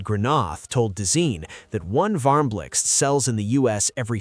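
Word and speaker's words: Varmblixt: The Varmlix, yes, that's how you pronounce it, is IKEA's donut-shaped lamp designed in collaboration with Dutch designer Sbine Marcelis.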